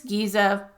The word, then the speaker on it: Giza: Are we at Giza already? He asked. This Giza Hassan agreed. He pronounced it more like Gaza.